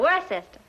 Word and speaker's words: Worcester: But it's spelled W-O-R-C-E-S-T-E-R.